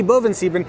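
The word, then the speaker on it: Bovensiepen: who knows an awful lot about it Boven stepen how close was I on pronouncing your name right oh that was perfect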